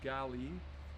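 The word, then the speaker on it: gale: hemisphere and this is um miraca galli g-a-l-e pronounced gali uh and this is um this is a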